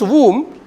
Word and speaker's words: womb: birth in our mother's womb we start this and how did they pronounce the word whom letter B no silence say so right in